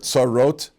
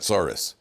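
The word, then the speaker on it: צרות: Like you ever heard the word tsarot? Tsaris, a person, yes, he got tsaris. Tsaris is just the mispronunciation of tsarot.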